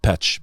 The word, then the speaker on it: Peć: The Serbs pronounce it Peć, but in Albanian it's pronounced Peja.